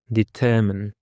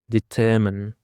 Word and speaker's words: determine: Determine. The stress is on the second syllable. Determine. Determine is a verb and it means to decide something after careful thought or to find out something exactly.